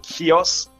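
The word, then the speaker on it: Chios: important to emphasize that in Greek it would be more like kios because we also have kios starting with a Kappa um which we already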